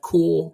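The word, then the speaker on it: Korps: confirmed uh that def Corps of C def core of C corp corp what am I supposed to say Phil core def core c silent P basically silent P silent P def core of Creek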